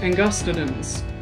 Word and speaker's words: angustidens: example carcasses angus titans but thanks to linguistics we know that all four systems of latin agree the accented syllable is always the second or the third from last and would you look at that in angustidens the gus is both the second and the third from last syllable so our latin counterparts would pronounce this extinct shark as carcaracles and gustadins but this epithet isn't